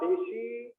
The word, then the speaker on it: deci: अब डेकी को डेसी बोलते हैं क्योंकि वो स्पेलिंग में DECI होता है, तो डेकी नहीं बोलते, डेसी बोलते।